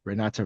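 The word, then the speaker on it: Renate: Renata Reinsve. Okay, see. Yeah, good, good. I'll go with you guys. So one of whom is played by Renata Reinsve in a fantastic performance.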